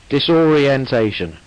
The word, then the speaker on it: disorientation: just number two again disorient you need to get the extra syllable dis orent disorientation dis orentation actually six syllables are there orientation very good orientation